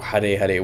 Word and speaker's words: Hare Hare: anyways um twice and I don't think they pronounce the R's like they pronounce it as an L kind of or Hare Hare whatever the point is this